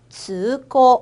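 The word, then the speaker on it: 通行: 여기 행자에도요, 밑에 이응이 있네요. 그래서 우리 행자를 고우라고 읽어줄 거예요. 이응 받침이니까 으라고 하는 장음이 왔습니다. 그래서 우리 통행 한번 읽어볼게요. 즈고, 한 번 더, 즈고.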